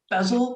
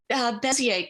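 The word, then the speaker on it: Bézier: And the word bezel curve, is that how you said it? Bezier curve.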